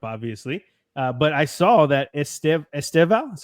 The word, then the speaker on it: Estevão: But I saw that Estevão, is that how you say it? Estevão.